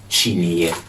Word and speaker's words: Kyineɛ: Umbrella in Twi is Kyineɛ. Kyineɛ. Kyineɛ is umbrella in Twi. Chidi or chini? Ni. Kyineɛ. Okay.